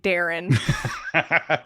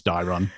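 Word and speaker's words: Daeron: Mablung and Dairon. So I was making fun of this name in one of the previous chapters because it just sounds like Darren. No, it's Dairon.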